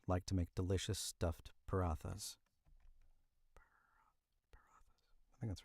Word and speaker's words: paratha: It says paratha paratha paratha.